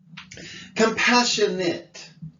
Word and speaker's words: compassionate: like get like it compassionate oh that's the it sound again desperate appropriate compassionate desperate